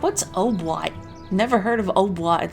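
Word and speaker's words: hautbois: Obwat is how you say oboe in French.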